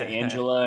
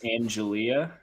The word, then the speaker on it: Angelia: I said Angela, and it's Angelia.